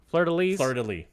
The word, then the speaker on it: fleur-de-lis: Fleur-de-lis.